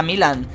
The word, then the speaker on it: Milan: Según el mensaje, el nombre de Milan significa querido, lleno de gracia y amoroso en eslavo, en romano antiguo, entusiasta y laborioso, y en sánscrito, unificación, y debe ir acentuado en la primera sílaba, como pasó con su